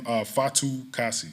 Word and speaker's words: Fatukasi: Hey, before the questions start, could you slowly pronounce that last name like you're enunciating each syllable? So. Oh, my last name Fatukasi.